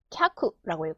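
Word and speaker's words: きゃく: 캬쿠라고 읽죠.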